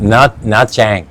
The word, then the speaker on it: Nha Trang: Nha Trang.